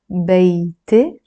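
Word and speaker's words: بيتي: So this one, we pronounce it beite. Beite. And it means my house, because the word beit means house, and this e or a in the end means my, makes it my.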